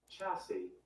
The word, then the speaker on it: chassis: I'm going to look it up to see how to pronounce it. Chassis.